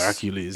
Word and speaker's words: Hercules: Hercules is Roman. The Roman name.